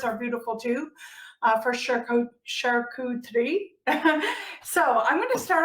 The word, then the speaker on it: charcuterie: say charcuterie it's not charcuterie it's sharku 3 so if you say it correctly there's only three syllables not four and on google they